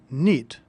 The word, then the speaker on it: knit: missile champion from 1971 notice of the word knit is spelled with a silent K all words in English